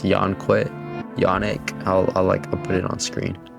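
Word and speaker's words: Yoneq: Yonic, I'll put it on screen. Yonic, like Sonic.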